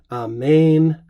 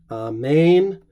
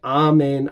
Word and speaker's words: Amen: First couple things we want to notice is the second syllable, as in Greek, is long. Amen, Amen. I'm pronouncing it there the way that it appears in our Greek texts, but you could also say Amen, Amen if you wanted.